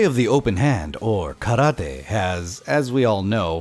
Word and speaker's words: karate: went in the complete opposite direction of over pronouncing it as karate with a over emphasis on the Tay don't don't do this either it's simply karate ah cut out this distant cousin where the